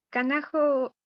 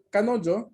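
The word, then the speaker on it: 彼女: Kanajo wa Kyoshi des. Espera, dos errores. Kanojo es la pronunciación del pronombre.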